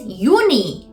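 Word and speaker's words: Juni: my is may still very similar June is uni uni so they took the E off and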